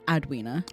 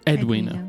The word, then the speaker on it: Edwina: Did you say her name was Edwina or Adwina? Edwina.